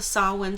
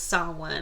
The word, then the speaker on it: Samhain: story called the troll tear and it's a sawwin story that's how you pronounce that word um i mean you might